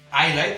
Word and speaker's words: Islay: Una illa, és una illa que està exactament al sud-oest d'Escòcia, que es diu Islay, es pronuncia Islay, tot i que s'escriu Islay, la pronunciació correcta és Islay, en gaèlic escocès.